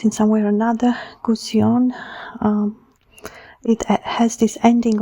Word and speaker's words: Gusion: Goetion, um it has this ending of ion, which is very repetitive in French uh language, no? Goetion. And the way it's pronounced, it sounds very French.